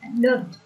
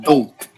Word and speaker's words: don't: Yeah, get the T on the end of that word, Ein. I don't know him, okay? Don't. Yeah, don't.